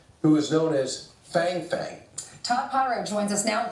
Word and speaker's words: Fang Fang: You heard it correctly. Fang Fang.